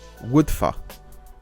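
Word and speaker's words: Wyddfa: So the Y is pronounced like a U and the U is pronounced like a Y, and why I don't know, but so I think that is pronounced Woodfa.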